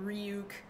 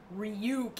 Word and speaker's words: Ryuk: I'm 90% confident they're going to pronounce his name ruk uh maybe not duuke this really like loose ruk that's fine yeah like I'll live with with this really native North American sounding ryuk even though that's technically